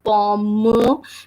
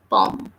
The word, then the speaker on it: pomme: And last E is silent again. So we are reading this word like is like pom.